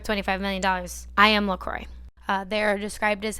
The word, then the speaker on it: La Croix: the french language but it would not be pronounced like that in french it's supposed to be la croix that's how you would